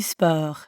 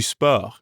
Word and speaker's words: sport: english word sport but we don't pronounce the t at the end and we use that french e sound again let's try practicing repeat after me leland fair to spur now it's your